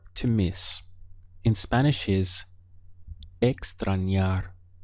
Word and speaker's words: extrañar: miss in Spanish is Extron yar we have three syllables x-brawn yar this n sounds like yeah yeah extra yard if we want to